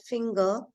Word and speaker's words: finger: can anybody tell me why in the word finger G is not making the soft sound B are because e is actually not standing alone e is a part of a sound which is a sound sound so that's why it's uh e will not affect G also G is also